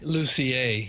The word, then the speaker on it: Lucier: And do you pronounce it Bob Lucier or Bob Lucier? Lucier.